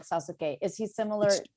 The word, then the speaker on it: Sasuke: persia sasuke on naruto sasuke well done though better than most people pronounce it so we're like suzuki spooky that's exactly right yeah i think my spanish helps me like at least go sasuke instead of ben on ben